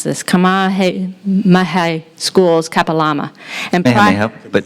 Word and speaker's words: Kamehameha: of school, and I'm going to mispronounce this, Kamehameha Schools, Kapalama. And Kamehameha, but that was good. Yeah. How did you say it? Kamehameha. Kamehameha.